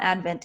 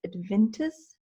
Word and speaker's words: Adventist: wrong that I apologize it's not Advent its Adventists Biolabs and they are setting